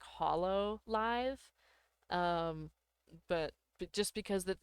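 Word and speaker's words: Hololive: They just can't go by their name from Hoya Live uh anymore. Uh just because or I I said it wrong. I I should really say it like Hollow Live.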